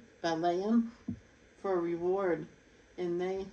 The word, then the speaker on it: Balaam: before, erroneous course of Balaam. No, that's not how you say it. Balaam for a reward, and they have perished in the rebellious talk of Korah.